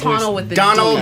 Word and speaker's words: Domhnall: Dominal.